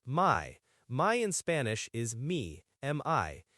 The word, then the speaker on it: mi: My in Spanish is mi, M-I.